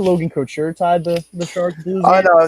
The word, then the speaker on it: Couture: the same thing, and I'm like, no, it's Couture. Say it right. Literally everyone's been saying that since he got into the league, Logan Couture, and now they're just gaffing it because it's what Mike Milbury does.